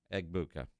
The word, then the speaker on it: Egbuka: Egbuka.